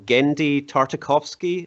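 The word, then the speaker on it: Genndy Tartakovsky: by uh the guy's name i'm probably gonna pronounce it wrong gendy tartakovsky i think he did like samurai jack and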